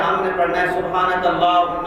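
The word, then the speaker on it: اللهم: بات پڑھتے ہیں سبحانک اللہم و بحمدک وتبارک اسمک وتعالی جدک، یہ غلط ہے۔ سبحانک اللہم، لام کو کھینچے، کلہم، اس کے بعد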